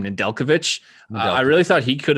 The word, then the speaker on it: Nedeljkovic: Nedeljkovic.